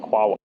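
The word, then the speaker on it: QAOA: in Python this is qaa this is It's pronounced quaa for some reason um this is the Quantum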